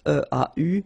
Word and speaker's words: eau: And then when you combine these two, or sorry, these three vowels E, A, U, you get the sound O. Only O. Okay?